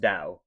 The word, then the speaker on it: Tao: Like the Tao means like something within you, you know, it's the inner energy within you and it's pronounced Dao which translate into the way.